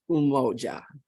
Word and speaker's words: Umoja: principle is for that day so today is umoja which means unity and it's pronounced umoja right today December 26th is the first day